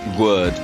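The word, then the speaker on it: Gourd: We learned yesterday it's pronounced Gwerd.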